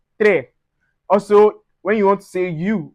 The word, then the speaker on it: trois: We don't say trois, we say trois.